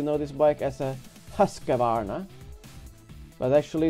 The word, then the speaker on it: Husqvarna: speak English you know this bike as a Husqvarna but actually it's a Swedish bike and it's pronounced who's gonna or if you say it like where I'm